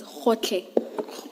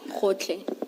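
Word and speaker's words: Gotlhe: Can someone who is Sotho Tswana speaking please pronounce that for us? Okay. Advocate Powe. It's Khotle. Khotle.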